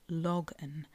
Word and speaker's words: Logan: the logan rock now really it should be pronounced logan from the cornish word log which i'm assured means to rock like a drunk person i'm not entirely sure